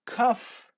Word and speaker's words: tough: not pronouncing the words but sometimes they are pronounced like F yes it is true for example tough rough rough decision tough